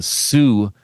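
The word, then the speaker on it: Soo: And then one that was just announced, the Sioux Film Festival. It's spelled S-O-O, but if you're a Michigander, you know that that's pronounced Sioux.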